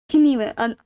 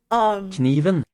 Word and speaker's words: kniven: Kniven, the knife is pronounced kniven instead of in English we just say knife.